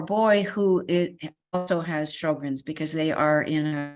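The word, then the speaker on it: Sjögren's: of Swedish origin but we have anglicized the name to say show grins Sjogren's itself is not curable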